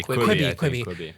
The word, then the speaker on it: Quibi: People are subscribing to this shit every day, like a 10-minute miniseries on Quibi. Like, is that how you say it? Yeah. So you have Quibi.